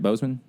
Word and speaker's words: Boseman: chadwick bosman wood um did i say his name right bozeman boseman yeah i'm crazy um but that's